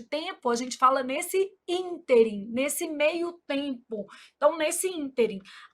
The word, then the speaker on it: ínterim: Então, a palavra interim apresenta erro de prosódia quando pronunciada como oxítona, que aí a pronúncia seria interim.